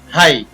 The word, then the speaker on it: हाई: जैसे यहाँ पर दे रखा है एच आई, आई के बाद जी एच दे रखा है, तो यहाँ पर जी एच का उच्चारण नहीं होता है, तो इसको हम पढ़ेंगे ह आई हाई।